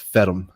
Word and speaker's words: Ferme: Well, it's because you're pronouncing the e at the end.